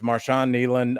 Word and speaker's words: Marshawn Kneeland: Is it Marshon Neland? Yes, Marshon Neland uh died at 24 years old.